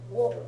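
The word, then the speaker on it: を: Okay, because in normal conversation they are both pronounced as o.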